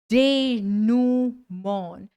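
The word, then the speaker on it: denouement: next word next word मेरा favourite word है because इसकी स्पेलिंग और इसकी प्रोनंसिएशन में बड़ा डिफरेंस है डे नमन नमन डे नमन डे नमन डे नमन इसका प्रोनंसिएशन है जबकि स्पेलिंग है इसकी डी ई एन ओ यू ई एम ई एनटी ये डेनम क्या है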